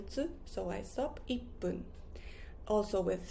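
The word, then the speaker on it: いっぷん: For example, I don't say ichipun. I don't say that. I say ippun, ippun with a little tsu. So I stop ippun.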